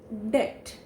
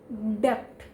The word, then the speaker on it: debt: second word in the list and that is debt what is that it is a money that is borrowed by us from someone right so how people mispronounce it i have heard people speaking it as depth depth but that is wrong in depth word there